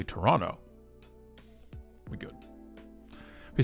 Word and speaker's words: Toronto: you're from toronto or not is if you pronounce the second so if you say toronto we know you're not from toronto you say toronto we good we say tdot or the six